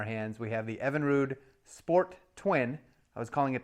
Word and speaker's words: Sportwin: Nightmare on our hands we have the Evinrude sport twin I was calling it The Sport Win originally but it's pronounced sport twin I was told and you